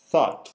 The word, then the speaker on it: thought: Te refieres a la palabra thought. Significa pensamiento, ¿verdad? Exactly, Raúl. Thought es también el pasado del verbo think. Y en este caso, esta palabra se pronuncia con una O larga.